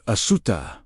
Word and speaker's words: Asuta: The word "asuta" pronounced ah dash sue dash t a h describes the state of